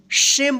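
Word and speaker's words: shame: अगर इससे पहले ए आया है तो इस ए का ए उच्चारण होगा और इ का कोई उच्चारण नहीं होगा। तो क्या होगा? सेम पड़ेंगे इसको। सेम में नहीं पड़ेंगे नहीं तो गलत हो जाएगा।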